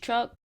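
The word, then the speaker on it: Chuk: I thought it was something different, like a different version but it was still pronounced Chuck.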